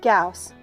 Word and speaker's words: Gauss: my best wishes Gauss P.S my last name rhymes with house I wasn't clear